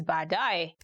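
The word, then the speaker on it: baadaye: going to look at 10 hardest ones to pronounce in swahili later ba dai later ba a dai for example you can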